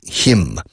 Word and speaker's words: hymn: Para himno nacional se dice anthem, no hymn. Hymn, que suena igual que él, para él, for him, pero se escribe H-Y-M-N. N muda al final y Y en medio.